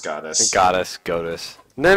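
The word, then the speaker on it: Godus: And they've made Goddess and Goddess Wars, and not doing it's too totally pronounced Goddess.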